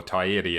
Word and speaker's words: Taieri: We've got the Taieri Bloke Shed, or Taieri as it's supposed to be pronounced.